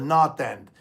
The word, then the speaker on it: North End: Boston because it's the North End of uh of Boston it's that's that's why they call it the North end and we we call it in Boston we call the not end we don't pronounce the